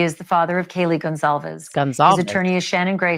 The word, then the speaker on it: Gonzalez: See, it's not Gonzalez or it's Gonzalez.